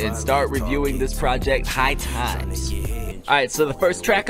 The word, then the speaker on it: HighX: Last week in Elijah Wan's review, I accidentally said HighX, but it's actually High Times. It's spelled HighX, but it's High Times by Jeff Skigh.